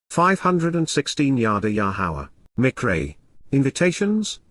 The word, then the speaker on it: Yahowah: foremost and beginning time of renewal, is Yahweh's, Yahowah, the proper pronunciation of Yahowah, our Eloah.